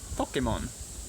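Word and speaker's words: ぽけもん: This one, see the little circle? That's from the H row. H, ho. So that's po, ke, mo, n. Po, ke, mo, n.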